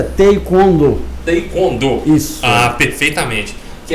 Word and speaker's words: Taekwondo: A pronúncia correta é Taekwondo.